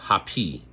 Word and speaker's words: Hapi: And then they had the netcher of the water, which was Hapi, and that's spelled H-A-P-I.